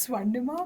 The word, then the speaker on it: Swarnima: I'm so bad at pronouncing Indian names yeah Sima oh my God she B it y this must go on the but I still couldn't pronounce the saying your full name my name is swanda bachara it's a very swanda is a difficult